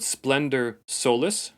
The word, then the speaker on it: Splendor Solis: One of the most beautiful celebrated ones is called Splendor Solis. Splendor, same way as we spell it, Splendor. And then Solis, a Latin term for the sun, Solis.